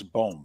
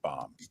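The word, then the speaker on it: Bohm: a week from tonight it's Alex bone by the way not bomb I don't know why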